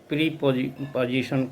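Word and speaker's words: preposition: ध्यान दीजिएगा, इसको बहुत लोग प्रीपोजिशन कह देते हैं, जबकि इसका उच्चारण प्रेपोजिशन होता है।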